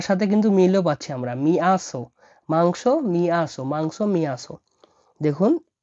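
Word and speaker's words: мясо: মাংসকে ডাকা হয় মিয়াসো, মিয়াসো মানে হলো মাংস, মিয়াসো মানে মাংস। তাহলে বাংলার সাথে কিন্তু মিলও পাচ্ছি আমরা, মিয়াসো, মাংস, মিয়াসো, মাংস, মিয়াসো।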